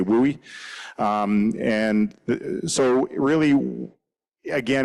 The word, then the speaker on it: WUI: So WOOI wildland urban interface um WUI as they call it in the states. We don't we can't pronounce that 10 times really fast so we just say WOOI.